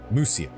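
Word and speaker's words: Mysia: certain route and attack Muisia. Uh, Musia, right? They pronounce it with a U.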